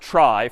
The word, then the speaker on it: trie: a fancier tree and it's short for retrieval but pronounced try for weird historical reasons but a TR is